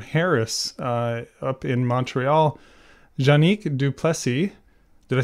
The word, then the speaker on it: Duplessis: Can you say it for people so that we get the right pronunciation? Sure. With my best French-Canadian accent, it would be Janic Duplessis.